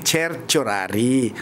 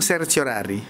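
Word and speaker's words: certiorari: Cher ang talagang pronounce niyan eh cherchorari. ch o kasi yung sa latin yung c ch ang pronounce so cher tiorari ah eh pero pwede na rin yung sir chorari sir sorari basta naintindihan basta naintindihan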